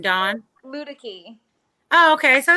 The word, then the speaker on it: Luedecke: of how do you say your name Don ludic II okay so it's not that difficult now and